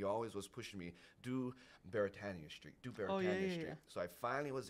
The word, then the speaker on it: Beretania: who don't know is Beretania is actually a Hawaiian word and it's properly pronounced